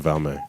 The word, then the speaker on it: Valme: Yeah, Sam Valme.